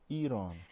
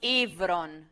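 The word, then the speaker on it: ηύρον: I thought it was Eron. This is pronounced Ivron. Ivron. Oh, yeah, that's Ivron. Right. Ivron. Yeah. Ivron. Okay, he put a slight h before this, like Heuron, something h.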